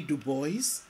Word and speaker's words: Du Bois: popularly known as w.e.b du bois and yes du bois not dubois and been faithful to the way he pronounced his name w.e.b dubois was a